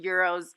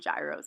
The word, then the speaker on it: gyros: for the cringe fest I know they're pronounced euros but I kept saying gyros anyway but anyway so